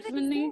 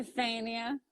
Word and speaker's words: Stefania: Do people butcher your name? Yeah. Really? What do they Stephanie, say? Stefania. Stefania. I could see people saying Stephanie because they Yeah. just are stupid and say it.